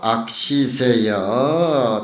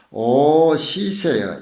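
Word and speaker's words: 惡時世: 차말법 악시세여 차말법 악시세여 말법에 만난 이 자신을 슬퍼하고 오 시세여 이 자는 오자는 미워할 오자로 그렇게 발음을 했으면 좋겠어요.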